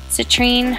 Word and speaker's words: citrine: I'm using Jou Cosmetics citrine highlighter or citrin I've heard it pronounced two different ways but this is a